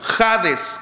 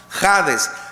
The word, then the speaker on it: Hades: Acuérdese lo que significa Hades que se pronuncia como jades con j jades receptor de todas las